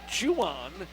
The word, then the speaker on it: Jan: 22 is Jan Pereira the name is spelled j n but he pronounces it Juan which sounds something like